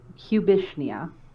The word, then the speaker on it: Cubishnia: choose this name for yourself the way you pronounce it is cubishnia and but everybody calls me cubby but i